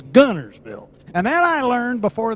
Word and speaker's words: Guntersville: a year before that there is no t it's gunnersville and then i learned before they gave me the key to the room it's gunnersvole so gunnersville gunnerswell you're